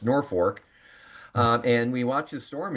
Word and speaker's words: Norfolk: It looks like it should be pronounced Norfolk, but it is pronounced Norfolk.